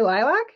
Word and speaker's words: lilac: I say lilac, lac, L-A-C, lac, because lac, L-A-C, is pronounced lac in Quebec.